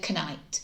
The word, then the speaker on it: knight: And you just say this word, but say the silent letter. So you'd say knight, which just helps the child remember that it's got a silent K at the start of it. So that's our last strategy, silly sentences and rhymes.